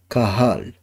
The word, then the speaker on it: Cajal: cells of Cajal ده Spanish scientist، فبتتنطق في الاسبانيش كاهال.